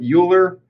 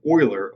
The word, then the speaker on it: Euler: It looks like Euler, but it is actually pronounced Euler, O-I-L-E-R, pronounced Euler.